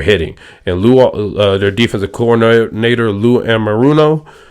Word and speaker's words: Lou Anarumo: And their defensive coordinator, Lou Anarumo, I believe is how you pronounce his name.